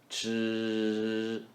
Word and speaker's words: 吃: 吃饭 Chi is simply ch with vocal cord vibration. Chi.